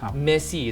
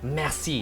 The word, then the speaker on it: merci: Merci. Is that Merci. merci? Must Yeah. have the throat also. Have the R, the slight gutter.